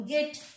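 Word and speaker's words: gate: সেক্ষেত্রে গয়ের উচ্চারণ আসবে, যেমন গেট, জি এ টি ই, গেট নট জেট, গেট, জি এ এম ই, গেম, জিএল A double S, glass, এরকম অজস্র অজস্র।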